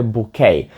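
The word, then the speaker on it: bouquet: ні це не букет букет англійською мовою буде букей і чому воно так дивно вимовляється і Не всі літери вимовляються тому що це слово в англійську прийшло з французької багато слів з французької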